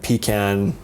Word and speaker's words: pecan: And pecan. Not pecan. Pecan is what you pee in a can.